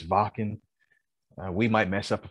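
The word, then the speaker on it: Wacken: in our first episode we called it walking because of the w or whacking but we were corrected it is vocal we might mess up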